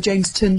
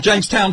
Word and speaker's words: Jamestown: band leader there it was a Jamestown 5 is that how we pronounce it or the jameston 5 no it was the Jamestown 5 there was no jameston